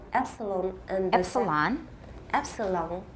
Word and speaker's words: epsilon: The first is based on the Greek letter epsilon and the Epsilon?